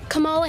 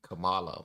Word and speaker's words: Kamala: And her name is people say Kamala, but it's actually Kamala, I believe.